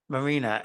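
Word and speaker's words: Maryna: uh she's really fantastic her name is uh Marina m-a-r-y-n-a she pronounces it Marina and she has these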